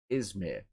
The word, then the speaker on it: Izmir: you said it right twice now. Izmir. It's Izmir. I know that it's a town of degenerates, but it is called Izmir, and it is even on the map.